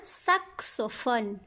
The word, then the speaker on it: saxophone: Un saxophone. Un saxophone. X ici se prononce x, avec O, xo. Saxophone. Saxophone. Et PH, les lettres P et H font le son F.